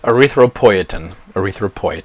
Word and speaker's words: erythropoietin: Okay, erythropoietin, that's how you say it.